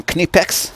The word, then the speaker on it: Knipex: in hand tools German kinetics this is house pronounced not knife X not anything other than any pecs we're gonna compare those